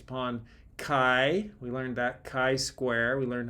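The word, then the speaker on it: chi-square: used are based upon Kai we learned that Kai Square we learned how to pronounce that if you ever don't know how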